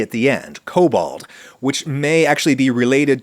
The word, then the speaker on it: Kobold: type of mischievously evil mythical sprite creature called kobold, with a K at the beginning and a D at the end, kobold, which may actually be related to the English word goblin.